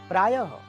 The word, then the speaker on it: प्रायः: य हो सकता है प्राय प्रा य फिर विसर्ग चिन्ह उसे ह का उच्चारण हम करेंगे उच्चारण जब आप ह का कर रहे हैं तो वो विसर्ग चिन्ह है प्रायः यानी अक्सर ऑन